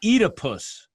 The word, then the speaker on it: Oedipus: it's clear junior was a chasian avatar of oedipus sometimes pronounced edipus baccala is the fish which of course corresponds